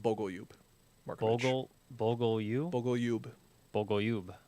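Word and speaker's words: Bogoljub: Yeah, it's pronounced Bogalube.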